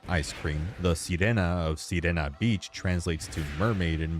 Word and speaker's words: Sirena: both Italian and Spanish, although I also really like how it still makes sense even when pronounced as Serena, being phonetically similar to the word serene.